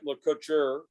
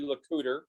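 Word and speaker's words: Le Couteur: was lieutenant john and it looks like le coucher uh that would be the french french pronunciation but it's actually the cooter and he's from the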